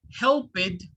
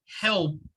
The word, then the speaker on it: helped: okay listen here help instead of saying help it the ed will sound like a t so the pronunciation is helped helped notice that i